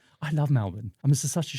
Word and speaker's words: Melbourne: as Australian listeners always keep reminding us, it's Melbourne. Yes, it's never been Melbourne. Melbourne. Hey, it's spelled Melbourne, just like Bournemouth.